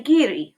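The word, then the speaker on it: ngiri: Dogo it's little warthog make the sound of a small n then say Giri right after it Giri do the same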